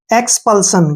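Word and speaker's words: expulsion: और एस आई ओ एन को हमने शन पढ़ना है, शन, एक्सपल्सन।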